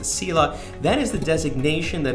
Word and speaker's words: CELA: You have to understand that I'm a certified elder law attorney, or CELA, pronounced the CELA.